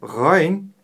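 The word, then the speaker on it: غين: Буква Айн – мягкая горловая буква. А буква Гайн – твердая горловая. И при ее произношении мы чувствуем характерный хрип. Х, Гайн, Гайн. А у буквы Айн она отсутствует.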